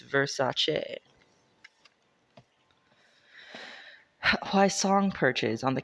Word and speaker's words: Versace: Okay, that was the first result, but then I found a Marie Claire article that says, "You've been saying it wrong." Pronouncing it Versace.